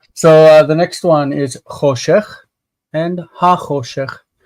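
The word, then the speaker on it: חֹשֶׁךְ: So the next one is choshech and ha-choshech. Notice that the ch needs to be pronounced choshech, ha-choshech.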